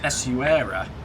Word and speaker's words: Essaouira: Essaouira.